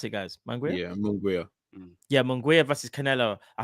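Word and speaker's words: Munguía: Is that how you pronounce it, guys? Manguia? Yeah, Munguia.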